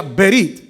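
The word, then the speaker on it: ברית: una palabra en hebreo que sí que se pronuncia berit en el sentido de cortante oiga lo que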